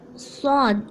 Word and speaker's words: ص: Now you see that sod, it's also from the harufa talafus. So that's why you have to pronounce it correctly. And the way of pronunciation is sod.